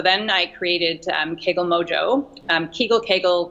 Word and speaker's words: Kegel: So then I created Kegel Mojo, Kegel, tomato, tomato, you can pronounce it either way.